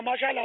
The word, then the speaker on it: ماشاء اللہ: تو نہیں آتا نا، ہمارے یہاں تو مسالہ مسالہ مسالہ یا ماشاء اللہ ماشاء اللہ ماشاء اللہ، اب ماشاء اللہ مسالہ، تو مسالے مشالے سے کچھ نہیں ہوگا۔ ما شاء اللہ یہ تلفظ یاد کر لیں، تو انشاءاللہ ما